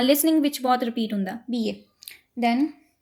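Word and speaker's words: billet: Second is BA. देखो BILL is B. E is A. BA. T last ਵਿੱਚ ਉਹ pronounce ਹੋਣਾ ਨਹੀਂ. It will be BA.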